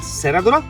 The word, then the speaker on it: Serradura: beautiful dessert, which you say is a Goan Serradura. Yes, that's Lovely. You said it right. Goan Serradura.